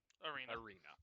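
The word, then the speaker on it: Erienna: her name is one arena arena you know like a place where you fight uh it's spelled e-r-uh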